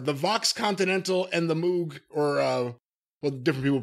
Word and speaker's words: Moog: Or are they just stuck in a time loop and they've got on your goddamn Mox Moog synthesizer and your fucking whatever the fuck else